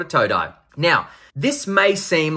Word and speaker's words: Toe Dye: I was going to call it Today or Today or something like that. And he just wrote the words toe and then dye in the message when I asked him.